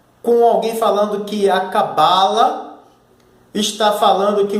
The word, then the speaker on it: Kabbalah: Reparar na pronúncia? Kabbalah? E eu não falei Cabala.